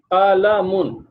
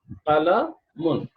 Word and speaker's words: qalamun: So we will pronounce it qalamun. This is pronounced qalamun. What do you pronounce it? Qalamun. Correct? Khalamun. Mun. Almost all the nouns in Arabic have got the letter noon at the end. All the letters, and all the letters will be pronounced qalamun, kitabun, baytun, masjidun. All the letters will be pronounced this way.